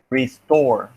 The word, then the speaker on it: restore: three sorry riffs four now we need to see if the stress mark is in the first or in the second syllable restore restore this in the second syllable if the stress mark is in the second syllable and the second syllable the t occurs at the beginning of the syllable then the tea must be aspirated restore restore yeah even